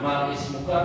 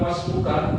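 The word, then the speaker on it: ما اسمك: Jadi yang benar cara baca gimana? Ma ismuka atau masmuka? Masmuka. Nah, masmuka karena dia didahului oleh huruf sebelumnya.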